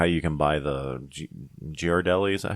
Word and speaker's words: Ghirardelli: Like, you know how you can buy the Ghirardelli, is that how you say it? Ghirardelli, like little squeeze bottles that have like chocolate and caramel and stuff.